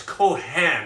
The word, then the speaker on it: Cohan: fun of you but a lot of people spell it cohen c-h-c-o-h-e-n well that would be a jewish fella and uh it's kohan it's he was an